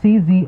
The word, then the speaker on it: Czolgosz: I can't pronounce it it's a cz like Tsar so like this is all that's I was trying to get that out Czolgosz I'm not sure how